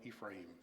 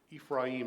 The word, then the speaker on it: Ephraim: that time 42,000 of Ephraim jeffa judged Israel six years then jeffa the gileadite died and was was buried in one of the cities of Gilead forgive me okay Ephraim is the Hebrew pronunciation and when I'm working